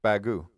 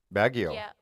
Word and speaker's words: Baguio: beg you all oh you don't say the I and the o just bagu I didn't I've never heard anybody call it bagu before Baguio yeah yeah okay we